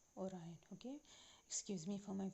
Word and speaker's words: Orion: with the orion belt orion constellation or iron it is called orion okay excuse me for